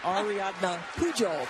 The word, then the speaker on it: Ariadna Pujol: Ariadna Pujol. There you go. You say the J, which that's probably what threw me off.